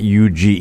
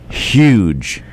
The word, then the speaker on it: huge: huge I mean I'm sorry it's it's not U it's h u g the word is huge pronounce it huge h u g e your turn huge I